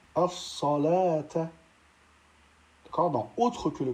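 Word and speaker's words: الصلوٰة: Ensuite, dans ces deux cas, on ne prononcera pas le waw tel que dans au-dessus al-hayati ou bien as-salata.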